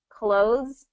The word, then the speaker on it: clothes: But in connected speech, I'm going to put on clothes tonight. Clothes. It's always going to pronounce without the TH sound.